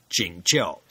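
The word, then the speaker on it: 景教: church as it's sometimes called in Chinese is pronounced jingel the different forms of Christianity all have their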